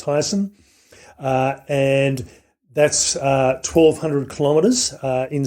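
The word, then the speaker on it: Heysen: It looks like Hyson, but it's Hyson.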